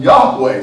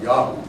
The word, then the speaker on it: Yahweh: think it was actually ultimately pronounced Yahoo because all the prophets are called things like Isaiah is ishiyahu with Yahoo God's name at the end of his name Jeremiah Jeremy Yahoo and